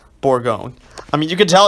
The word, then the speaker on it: Bourgogne: just read this okay I've never pronounce it before so it's French your 10 battleship for Bourgogne before going that's how I'm gonna pronounce it Bourgogne I mean you can